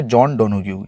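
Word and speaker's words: Joan Donoghue: जॉन डोनोग्यू, ये इनके pronunciation है, जॉन डोनोग्यू.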